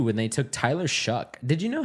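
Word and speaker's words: Shough: So, when he was drafted, I was like, "Oh, they took Tyler Show." But I I later learned that it was pronounced Tyler Shuck, quarterback out of Louisville.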